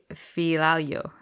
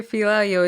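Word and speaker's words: Fialho: michelle pajeta versus andre filalio is that how it is i don't know i'm currently reading a comment that says andre filario is pronounced f-e-e-a-l-yo so if you got me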